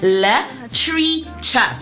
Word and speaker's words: Latricia: Founded in 2013 and pronounced literature, the name is uh the name reflects a fusion of the founders's love for language, literature and the art.